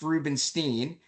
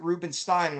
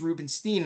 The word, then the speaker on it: Rubinstein: the same affliction because my last name is actually spelled Rubinstein, but it's pronounced Rubenstein. When people mispronounce it, and they say to me, "Is it Rubinstein?" I say, "No, it's Rubenstein."